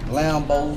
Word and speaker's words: Lambeaux: Lambo, spell it like a Cajun, LAMBEAUXLWE, it's Lambo's World, you heard me, Entertainment, Lake Charles, Louisiana, y'all fuck with that.